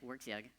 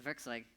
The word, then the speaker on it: Werkzeug: Americans pronounce it Werkzeug. Here in Europe, the Werkzeug is probably more idiomatic.